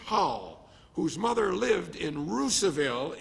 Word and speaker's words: Russiaville: whose mother lived in ruseville indiana i believe i pronounced that correctly by hoosier standards up in michigan we'd say russiaville okay roosevelt began preaching